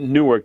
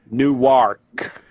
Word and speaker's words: Newark: They don't pronounce it Newark. They pronounce it Newark.